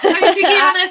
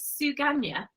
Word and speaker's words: Suganya: Oh, Sugiana, sorry, I'm not looking at you. Oh, sorry, my darling. Sorry, I think I've been pronouncing your name wrong. I've just looked at it again. Is it Suganya?